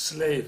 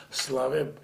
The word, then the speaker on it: Slave: So, like my name Slave, they usually pronounce slave. I said no. Slave, it's better if you pronounce it like in French.